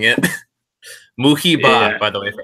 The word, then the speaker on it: Muhibbah: And I'll be honest, I still kind of want to change it because I'm just about tired of everyone mispronouncing it. Muhibbah, Yeah.